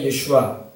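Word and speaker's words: ישוע: 그러므로 여러분 그들은 이사라고 하는데 우리는 정식적인 발음으로는 히브리어로 예슈아입니다. 예슈아.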